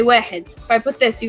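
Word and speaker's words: واحد: You guys would say wahid.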